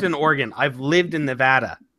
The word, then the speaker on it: Nevada: not I've lived in Oregon I've lived in Nevada it's Oregon it's Nevada yes it's Nevada it's